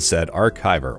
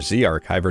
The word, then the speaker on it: ZArchiver: i recommend is called said archiver or z archiver depending on how you pronounce it this app is 100